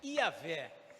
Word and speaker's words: Iavé: a palavra é traduzida daquele acróstico hebraico YHWH, que o judeu pronuncia Iavé.